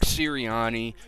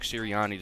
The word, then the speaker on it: Sirianni: They went ahead and hired the offensive coordinator from the Indianapolis Colts, Nick Sirianni. Pretty sure that's how you pronounce it.